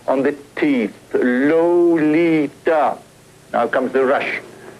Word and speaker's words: Lolita: 3 on the teeth, Lolita. Now comes the rush. Note, by the way, that the first syllable of her name sounds more like an R sound than the O sound.